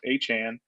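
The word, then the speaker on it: Achane: I'm upset that his name's pronounced Achan because I thought it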